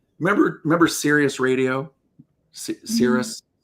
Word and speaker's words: Sirius: Sir Cirrus, that's how you say it.